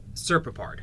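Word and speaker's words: Serpopard: That's not how you pronounce it, though. That's how it's spelled. Serpapard. Serpapard, okay. Serpapard. Serpapard. Trust me, that's correct.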